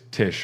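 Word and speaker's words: Tiche: go and I said every time I say Tish I say it like Gomez Adams right so she's there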